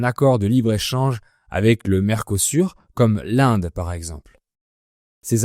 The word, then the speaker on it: Mercosur: Le Mercosur, je le prononce à la française, se traduit par marché commun du Sud.